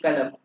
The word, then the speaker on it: قلم: وكما ذكرت لكم قاف ينطق كاف في الأردية فنقول كلم كأنه كاف.